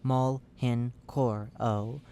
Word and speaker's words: Mhenoro: Searching for the other end showed that the surgeon had missed another entirely new organ inside of the entity dubbed the Mhenoro, pronounced maul henoro o.